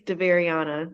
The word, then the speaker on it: Dariana: Um, my name is Dariana. That's how you say it.